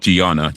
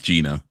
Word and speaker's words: Gina: Not not not Giana, Gina.